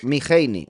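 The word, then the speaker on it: מחני: Este traductor bueno, perdón, hice una extra, pero sí se pronuncia miheini, ¿ok?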